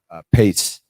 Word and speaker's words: Pace: Yeah, Pace, I believe is how you say it. Yeah, Pace. Yeah. Okay, I was saying peace, but I think the peace sign on the hat that he always has, but Pace.